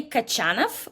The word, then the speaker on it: Kochanov: I would say Kachanov would be the correct emphasis on on on his last name.